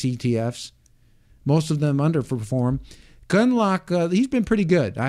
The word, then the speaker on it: Gundlach: Jeffrey Gundlach.